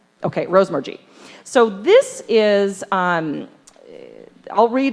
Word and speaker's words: Rosemergy: Okay, Rosemergy.